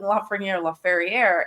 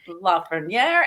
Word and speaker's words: Lafreniere: They were two old, and they kept calling LaFerriere, and I was like, who is this?